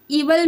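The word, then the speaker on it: evil: द इवल इवल में यहां जो आई है साइलेंट है।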